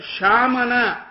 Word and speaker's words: ಶಾಮನ: ಆಮೇಲೆ ಶಾಮನ ಅಂತ last but one word ಅಲ್ಲಿರ್ತಕ್ಕಂಥ ಶಾ ಅನ್ನೋದು ಎಸ್ ಎಚ್ ಎ ಶಾ. ಹಾ, ಶ್ಯಾಮ ಅಂತೀವಲ್ಲ ಮೇಘಶ್ಯಾಮ, ಆ ಶ್ಯಾಮ ಅಲ್ಲಿ.